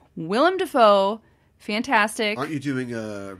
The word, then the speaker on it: Willem Dafoe: played by william defoe is it william defoe or willem that's what i thought and i was tripping myself up earlier and then i said it wrong willem dafoe fantastic aren't you doing